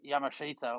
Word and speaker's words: Yamashita: And he said, "Yeah, I did another job the other day with Michael Yamashita or Yamashita, I think he's actually pronounced, but Yamashita is how it's spelled."